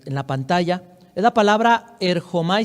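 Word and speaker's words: ἔρχομαι: Es la palabra erchomai, se escribe, se pronuncia o se puede pronunciar erchomai, como lo pronuncie sería bueno, está bien.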